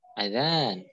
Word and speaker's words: adzan: masih kurang tepat dalam pengucapan adzan mereka masih memanjangkan Hamzah m muhazan makanya saya saya sampaikan disini Semoga bisa ingat ya adzan tanpa memanjangkan Hamzah la Asmaul adzan Oke